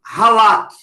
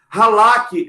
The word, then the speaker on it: halak: A palavra andar no Velho Testamento é uma palavrinha que se escreve, não sei a pronúncia correta, mas é como halak. H-A-L-A-K. Halak.